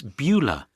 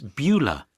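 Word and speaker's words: Beulah: you listen and write what's her name it's bua I've never heard that name before how do you spell it b e u l a h how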